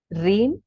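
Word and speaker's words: ह्रीं: रीम श्रीम और क्लीम। रीम होता है HREEM, जिसमें H साइलेंट है।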